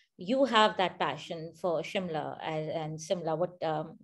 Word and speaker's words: Shimla: on the consonants so the s is pronounced as shir so in hindi it was always shimla it was never similar so while in hindi